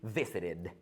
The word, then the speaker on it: visited: the pronunciation right there it's going to be extra syllable okay so it's going to be visited visit visited visit visited